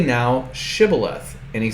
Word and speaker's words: Shibboleth: Say Shibboleth and they say Thibboleth.